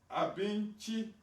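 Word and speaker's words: abinci: Now, Abinchi, you see the word and the letter C is pronounced chi in the GUOSA, and that is food.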